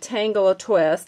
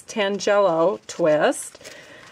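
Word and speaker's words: Tangelo Twist: So the ribbon that I'm going to use is called, now I was calling it Tangle-A-Twist. Apparently that is not the correct way to say it. It's Tangelo-Twist.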